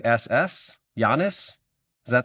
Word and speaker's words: Giannis: So, my spelling would be Y O N I SS. Giannis.